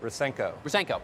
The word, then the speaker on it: Rusenko: And our next guest is the CEO of Weebly, Rusenko? Rusenko. Yeah. Just about. Kristen likes it in there like phonetically like that, and it messes me up even more.